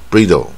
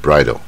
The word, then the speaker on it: bridle: 成这个自然发音法 bridle，它不是，所以它这个英文发音不规则。